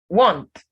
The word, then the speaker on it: want: Want, not want. The A here gives the O sound.